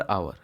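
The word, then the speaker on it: hour: रन 12 kilometre per आवर। पर आवर की जगह पे क्या लिखा है यहाँ पे, एन आवर। एन क्यों आ रहा है, आवर, उच्चारण कैसे हो रहा है, आवर।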